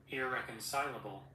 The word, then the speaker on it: irreconcilable: Irreconcilable. Irreconcilable. See, verbble. I'm putting r and there's no r in it.